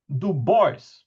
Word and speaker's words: Du Bois: And I say this with apologies to Charles and to all of the French colleagues, but this really is how the Americans say it and how he himself said it.